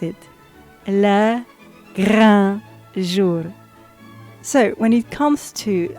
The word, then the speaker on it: le grand jour: It almost sounded like a little L at the end. So that is my choice if I had to pick the reconstitution for Le Grand Jour.